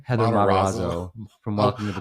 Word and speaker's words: Matarazzo: See, I thought he was Mazzarazo. Say her name? Heather Matarazzo.